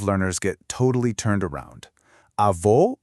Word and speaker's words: avó: Avó, for grandmother, is pronounced avó, specifically using a closed O sound, kind of like O.